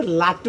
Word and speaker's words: লাটু: না মানে আমার নামটা হচ্ছে লাটু, বুঝছেন, লাডু না।